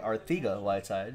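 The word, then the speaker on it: Arcega-Whiteside: JJ Arthiga Whiteside is how he pronounces it, $3.99.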